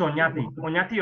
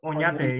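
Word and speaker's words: Oñate: It's Onate or Onate in Spanish.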